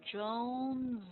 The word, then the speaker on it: Jones: By the way, this one will sound like a Z to Jones Zones.